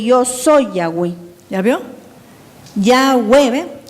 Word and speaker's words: Yahweh: Yahweh, ¿ve? Ya, porque la primera letra se pronuncia ya.